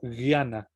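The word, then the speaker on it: ज्ञान: La J y la ñ también es gutural, viene directamente desde el fondo de la garganta y esta se pronuncia como gui. Entonces como guiana, conocimiento, que es la palabra, la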